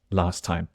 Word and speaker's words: last time: stuffed last time like just the letter T at the end of last the T disappears last time last time the t is coming from the word time not last so last time so of